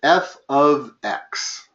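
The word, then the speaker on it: f(x): is, the way you pronounce that is f of x.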